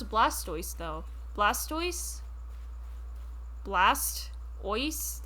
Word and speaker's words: Blastoise: good point um i would pronounce it blastoise because i don't hate life look at their